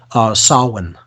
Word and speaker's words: Samhain: It's called Samhain. Okay, so Samhain, that's spelled Samhain, or Halloween or All Hallows Eve is October 31st.